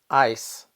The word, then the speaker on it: ice: was my eyes hurt the only difference in pronunciation between eyes and ice is the voiced Z and the unvoiced well maybe you're thinking